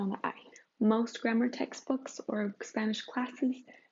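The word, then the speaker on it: -imos: It's pronounced imos, spelled I-M-O-S, that ending.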